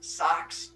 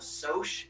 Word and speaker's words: Soc: it and see it you're going to pronounce this socks because you're thinking of the things you pull up over your feet but spelled differently i'm going to be pronouncing it as a soch soc um because it